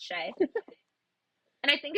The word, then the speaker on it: Shai: I always pronounce I want to pronounce it Shai every time and it's Shay and I think it's because it's SGA and